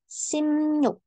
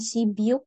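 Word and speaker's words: 십육: 16 simnyuk nah hatihati ini bacanya bukan si byuk ya Nah ini dibacanya kalau ada bep ketemu sama Yu maka dibacanya seperti m dan new Oke berarti kita akan baca seperti apa siuk cara baca yang benar adalah simnyuk simnyuk kemudian angka 17 sip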